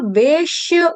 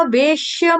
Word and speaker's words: वेश्य: ऐसे ही यहाँ पे आधे श का उच्चारण करना है, शलगम वाला शरबत वाला श जो है वो आधा है। मैया वेश्य मनो ये मान, मनो